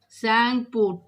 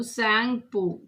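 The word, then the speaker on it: Tsangpo: The Brahmaputra river starts in Tibet, where it is called Sangpo. Sangpo. T is silent here. So T should be capital because it is the name of the river. So Sangpo.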